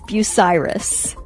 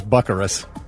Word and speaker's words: Bucyrus: that's the first time I've ever heard that pronunciation. Wow. Bikerous. That is Bucyrus. Bucyrus. Hey, Bi-curious is what we're calling it from now on. When I was a kid, the first time I thought it was Buckarus.